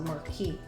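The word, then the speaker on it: marquise: technical term is a marquee shape. It's spelled with the Q and U-I-S, but the S is silent.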